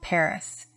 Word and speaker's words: Pagri: my birthplace was called Paris. Which Paris? South of Lhasa, there is a village called Pagri, that name being pronounced Pari.